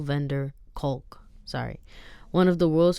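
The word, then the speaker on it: van der Kolk: physical violence Dr bezel vandervalk one of the world's foremost Experts of trauma on trauma sorry I think I said his name wrong Dr bezel vender culk sorry one of the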